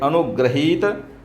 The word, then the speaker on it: अनुगृहीत: री बनेगा ग्री ठीक तो उच्चारण देखिए अनुग्रहीत अनुग्रहीत तो स क्या है सी अनुग्रहीत अनुग्रहीत ग में ऋ लगी हुई है ग्री अनुग्रहीत प्रश्न 14 का